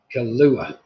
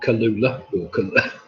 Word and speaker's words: Kahlua: as well oh no kahlua oh god no i just can't say it that's the answer isn't it julie not kalula right okay i shouldn't pronounce